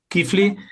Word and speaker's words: Keighley: Paul Sánchez Kifli, que así se pronuncia tu apellido, me has enseñado, eh,